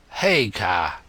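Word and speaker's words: Haigha: name's his name is Hagar he pronounced it so as to rhyme with Mayor I love my love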